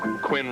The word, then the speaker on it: Quinn: Quinn rhymes with sin. And when? And begin.